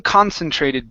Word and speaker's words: concentrated: have the word concentrated the stresses at the very beginning of the word one concentrated beam one concentrated beam